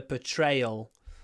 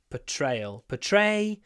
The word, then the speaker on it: portrayal: But the way that they showed this person, the portrayal of somebody. Portrayal. Portrayal. The first R it's not pronounced. It's just put.